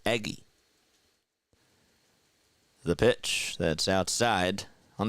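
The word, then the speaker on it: Eguy: Spells it E-G-U-Y. That's how you pronounce it, Eggy.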